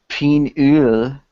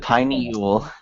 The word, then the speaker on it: pineal: Penule. He said pineal. Like penal colony. Mm. Not a big deal. I swear I thought I said pineal.